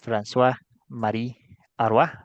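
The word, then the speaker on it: François-Marie Arouet: real de volter era franois Marie ar así se pronuncia en francés y no sabemos muy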